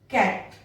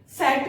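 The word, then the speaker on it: cat: कैसे, पहले ए, कैट, अब ये सेट नहीं होगा, क्यों नहीं होगा, क्योंकि सी के बाद में ए है।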